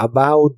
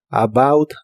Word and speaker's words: about: acerca de o sobre la O U de esta palabra se pronuncia como a u a about that about that y usaremos la